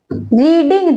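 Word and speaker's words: read: रीडिंग दिया है, हमें थर्ड फॉर्म लिखनी है, तो रीड की थर्ड फॉर्म भी यही होती है, प्रोनाउंसिएशन रीड रेड रेड बोल देते हैं, तो हम क्या लिखेंगे, रीड।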